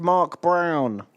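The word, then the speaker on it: Mörk Borg: Actually, it's pronounced Mark Brown.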